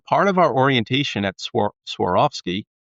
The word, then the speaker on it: Swarovski: the learning and development in your time at Servarski did that help and I probably mispronounced that so correct it a little I I'll I'll train you right now.